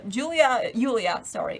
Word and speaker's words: Julia: Just letting you know, Julia, it's a Polish pronunciation, as a main protagonist,